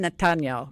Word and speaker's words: Netanyahu: I remember the day that happened and I remember Benjamin Netanyahu as they say over there they say it to say it in Israeli they say Benjamin Natano Benjamin Natano that's how